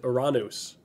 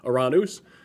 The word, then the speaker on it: Uranus: we have the planet uranus and that's how i'm going to pronounce it um that's the greek pronunciation for the for the greek god and uh subsequently the the planet so iranus and we're going to